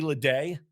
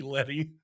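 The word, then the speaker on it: Ledee: here and there uh ricky leday apologize for that all the way back in episode one i called him ricky letty because i forgot about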